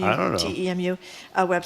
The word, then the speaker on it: Temu: Well, the person that texted about how do you pronounce that, Temu? I don't know. TEMU website. How do you says pronounce it, Jamie?